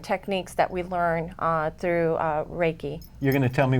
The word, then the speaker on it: Reiki: You're going to tell us some of the techniques that you use in Reiki, and did I pronounce that correctly?